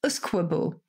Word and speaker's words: usquebaugh: 16th century in a Gaelic word, which was Usquebaugh, which is spelled U-S-Q-U-E, B-A-U-G-H.